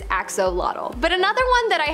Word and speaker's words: axolotl: There is much speculation as to how to pronounce the name of this creature, but for the most part, most people believe that it is axolotl.